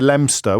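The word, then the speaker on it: Leominster: about lemster um so kidster is very near lemster which is of course is spelled Leo Minster so that that I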